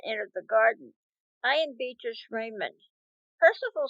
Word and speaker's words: Beatrice: prove mrs medulla miss beatrice she pronounced beast's name after the italian manner he is to play